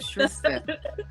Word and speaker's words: Shrista: It rhymes with Krista, Shrista.